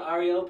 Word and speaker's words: Ario: The mantra Ario prepares a Gnostic for the advent of the sacred fire. This mantra must be chanted every morning, dividing it into three syllables. Ah, ri, o, prolong the sound of each letter.